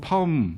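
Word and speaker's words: Pahom: 옛날 러시아의 한 농부 파음 뭐 바음이라고도 발음을 하는데요이 농부는 원래 이제 남의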